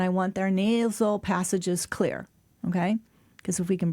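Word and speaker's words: Xlear: It looks like exar, but it it's pronounced clear.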